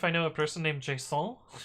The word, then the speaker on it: JSON: to be non empty Json is pronounced Jason changed my mind hmm